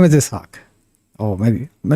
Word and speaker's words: Ishaq: And it should be pronounced right. So it's Ishaq. Yeah, I was really shy back then. If someone had called me Ishaq, I would be like, yeah, okay, Ishaq, sure.